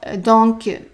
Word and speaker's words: donc: D'accord, donc une chambre double pour 2 nuits. Okay, word for word. D'accord. Donc, so pronounce the C.